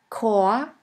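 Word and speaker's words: Chor: in the word ice in the german language the words which normally start with the letter c is pronounced like the letter k here we have the word cor cor which means choir de dei dei sounds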